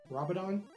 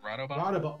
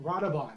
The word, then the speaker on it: Rodobon: How do you say it? Robidon? Is it Rodobon? Rodobon, that's it. Rodobon.